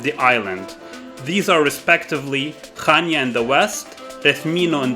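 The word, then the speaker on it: Chania: western part of cre is called Kana often mispronounced as chanya Kan became our base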